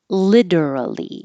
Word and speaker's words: literally: your family l Lally the T changes to a d so literally if you're going to